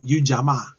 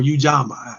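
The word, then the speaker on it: Ujamaa: on um a principal called you jamaa or ujama you can pronounce it in either way but um ujama is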